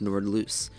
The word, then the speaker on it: Nordlys: of course nord loose i thought it was pronounced nordless but it's pronounced nord loose the more you know